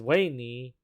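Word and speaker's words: Weynie: became my baby and uh right here is wayney the name is pretty weird but uh her name is spelled w-e-y-n-i-e and my first love named her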